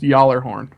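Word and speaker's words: Gjallarhorn: But, Tito in the chat says it's pronounced Jallarhorn.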